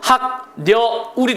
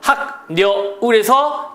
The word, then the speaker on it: 학여울: 이제 어음 의문이 첨가가 되는 건데 여기서도 마찬가지죠 학녀 울이 됐어요 학녀 울에서 자 기억이을 만나니까 항 그래서 비화가 됐죠 울 그럼 발음이 울 이니까 h가 되는 거죠 h 항